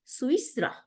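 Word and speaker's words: سويسرا: সুইসরা, দেখেন বানানটা সিন পেশ ওয়াওর নিচে জের, ইয়ার উপরে না ইয়া, সিন পেশ ওয়াওর উপরে সুকুন, সু, তারপরে ইয়ার নিচে জের, আমাদের হারাকাত ঠিক করতে হবে, ইয়ার নিচে জের, তাহলে সু ইস, আবার সিনের উপরে সুকুন, রর উপরে জবর, হ্যাঁ, সুইস র, এই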